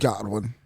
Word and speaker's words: Godwin: and goodwin moving godwin godwin did i say right god one i said it right bro he played for